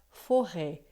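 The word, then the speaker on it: forêt: por isso que fica foré é você vai lembrar né Floresta em português ou Forest no inglês tem o s certo só que a gente em francês já não pronuncia mas os primeiros gramáticos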